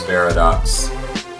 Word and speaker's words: Beridox: Hi, my name is Barox and that is spelled B E R I D O X.